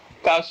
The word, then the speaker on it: cache: Cash is where where they store ammunition.